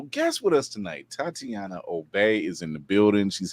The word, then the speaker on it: Obey: my name is Tatiana last name is OB even though it's spelled obey is a little kind of confusing um but I write